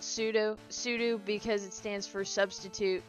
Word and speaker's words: sudo: It's technically supposed to be pronounced as if it were spelled pseudo sudo because it stands for substitute user do.